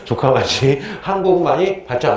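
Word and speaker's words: 城下町: 그래서 발음 조심해야 돼요. 조카마치. 뭐라고요? 조카마치.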